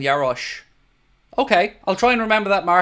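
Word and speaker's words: Jaroš: It's pronounced like SH, so it's like saying Yarosh.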